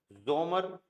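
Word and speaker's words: Sommer: जैसे for example simple से dare जोमर, dare जोमर, जोमर means समर।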